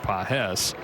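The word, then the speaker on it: Pagés: Spelled the same way as Andy Pahes, but he pronounces it Pahes.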